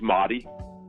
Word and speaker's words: Mahdi: So my first name's Mahdi, and it's in Arabic. That's the English pronunciation, so everyone says Mahdi, and then my last name is.